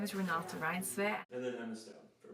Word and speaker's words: Renata Reinsve: She has a video of her pronouncing it. Hello, my name is Renata Reinsve.